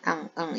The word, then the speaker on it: un: Tolong diulang betainnya cara baca yun sama ang itu.